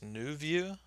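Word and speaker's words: nouveau: we can try this i think it's pronounced new view or we can try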